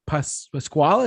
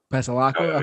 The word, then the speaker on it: Pasalacqua: Going to Pasquale, is that how you say it? I never know how to say it. Pasalacqua.